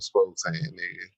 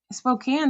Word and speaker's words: Spokane: and by the way it's pronounced Spokane five hours and 45 minutes away um Spokane that's cougar country that's